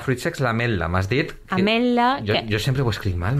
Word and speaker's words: ametla: La TWL, que és com s'escriu ametla, es pronunciaria com una L geminada. Ametla, sense pronunciar la T.